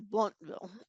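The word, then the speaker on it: Blountville: the towns wrong because it's bluntville is bluntville so there's a lot of letters they like to leave out and things down here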